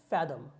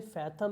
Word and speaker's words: fathom: देखिए यहाँ पे FATHOM है, आपको फैथम लग सकता है लेकिन ये फैथम नहीं फैदम है। अगर आप प्रोनाउंसिएशन सिंबल्स को जानते हैं जो मैंने यहाँ पे दिए हुए हैं ब्लू स्ट्रिप पे, तो आप जान जाएंगे कि इसको फैथम नहीं फैदम पढ़ते हैं।